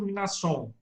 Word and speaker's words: Mnason: Tá, eu pronuncio Mnason. É um M mudo, né? Mnason.